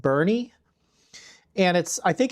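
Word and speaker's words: Boerne: I think it's actually pronounced Bernie.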